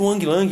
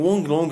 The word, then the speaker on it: Wang Lang: O mestre Wang Lang, ou Wang Long também, tem algumas diferenças na pronúncia até do nome dele, né?